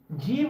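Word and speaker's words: ج: ফা সা এরকম ভাবে উচ্চারণ হবে ফা সা জিম জিম উচ্চারণ হবে এই যে জীবটা আছে না জীবের মাঝখানে এবং উপরের যে তালু থাকে এই যে উপরের তালু এইখানে লেগে চেপে উচ্চারণ হয় জিম জিম জিম জিম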